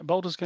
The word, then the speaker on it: Baldur's Gate: Yeah, Baldur's Gate.